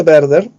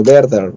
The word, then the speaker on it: Werther: Se pronuncia Werther. ¿Ok? Voy a escribirlo. Como verde, pero Werther.